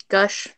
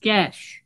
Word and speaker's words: Ghesh: it's with an E, Ghesh. not Ghesh. with an O. It's Ghesh. Ghesh. I'm sorry. I just had to. I'm so sorry. Ghesh. Yeah. It's pronounced Ghesh.